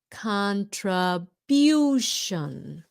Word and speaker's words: contribution: Contribution. Bution. Bution. You see it has a Y sound in there? Many many words in English that U has that U sound. Okay, so it's contribution. The other big mistake many Vietnamese make is shun, but they say sun.